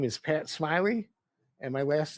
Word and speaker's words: Smillie: So for the folks listening out there, my name is Pat Smiley, and my last name is spelled Smillie. It's like Millie with an S, but it's pronounced Smiley.